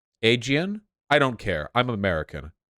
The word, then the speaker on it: Aegean: again see say again well in English a-e-g-i-a-n would be aegian again again see again Aegean I don't care I'm